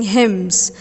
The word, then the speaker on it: hymns: they used to sing hymns the letter n is silent in this word we will come later